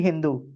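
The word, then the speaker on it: hindú: refer to Indians as Hindu. So the H is silent is basically Hindu right and that goes to the Hindu civilization.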